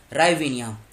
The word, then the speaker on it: Hryvnia: Currency क्या है, राइविनिया, H silent है, HRYVNIA, ये इसकी क्या है, ये इसकी करेंसी है।